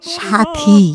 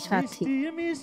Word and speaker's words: সাথী: ই করলাম সিলেক্ট করলাম কিন্তু সাথী না সাথী সাথী এই উচ্চারণটা ঠিক করা তো দরকার আসসালামু আলাইকুম ওয়া